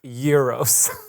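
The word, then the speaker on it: gyros: is looking good um yeah I I say euros because one time I was in a Greek restaurant and the person behind the counter was wearing a button and it said it's pronounced Euros so I was like okay thank you you're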